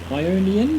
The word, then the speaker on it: Ionian: Ionian? Yeah, Ionian, that's how you say it.